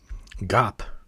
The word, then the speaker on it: 갑: Um now this hanja looks like this right here and it's pronounced gap in sino Korean or as this one.